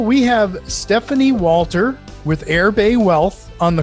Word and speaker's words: Erbe: the way you spell this now is it's pronounced airbay but it's spelled e e-r-b-e-w e a t